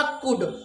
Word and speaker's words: could: पाया, पाई, पाए का अर्थ देगा कुड। और ये कुड जो है कुल्ड नहीं है, यल साइलेंट है। यल साइलेंट है अर्थात कुड है।